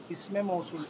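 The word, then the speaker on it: اسم موصول: জামির, জামির, ইসমু ইশারা বা ইসমে ইশারা, ইসমে মৌসুল, ইসমে, এ দেখেন ইসমে আমি জবর দিয়ে দিচ্ছি, ইসমে মৌসুল। এটা উচ্চারণগতভাবে, নাহলে আপনি নাও সরবগতভাবে এখানে ইসমে মৌসুল, ইসমে মৌসুল আপনারা উচ্চারণ করতে ঠিক করেন।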